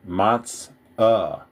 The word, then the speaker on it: matzah: Where I'm from, we pronounce it matz-uh. Like a UH at the end, like a matzah.